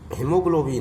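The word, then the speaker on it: haemoglobin: हेमोग्लोबिन यानी लाल रक्त कण, इसमें भी ए साइलेंस वर्ड है।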